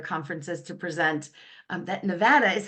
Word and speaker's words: Nevada: one of their conferences to present um that Nevada is how you say it um join together